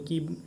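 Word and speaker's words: coup: next question, कू इज ये जो spelling में कूप होता है, लेकिन इसको कैसे हम प्रोनाउंस करते हैं, कू क्या है, ए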